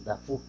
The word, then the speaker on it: Dufau: él es de origen, el término de Dufau, que estoy haciendo referencia, es un término francés, un apellido francés, que en su pronunciación correcta se dice Dafu.